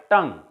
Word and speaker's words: tongue: But one more word, tongue. In this word tongue, the last UE, which are two vowels, they are silent in this word.